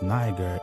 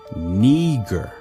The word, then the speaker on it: Niger: it says niagara but it says it's not pronounced niger it's pronunciation is neger neger it says it's of latin origin it